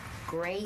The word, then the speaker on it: greige: A textile converter takes what we call gray goods, which is spelt G-R-E-I-G-E.